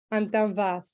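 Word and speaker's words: Antão Vaz: And so I thought we'd start with the Antovash. Is I pronounce that correct? Antanvas, yes, that is the varietal, the main varietal, and the only varietal here in this wine.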